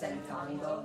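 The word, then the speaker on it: sentando: It's just centando, it's not cientando. That's like saying 100.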